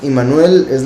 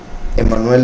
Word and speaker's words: Immanuel: Sí, en sí Immanuel se podría decir es la correcta pronunciación. Emmanuel es como pues una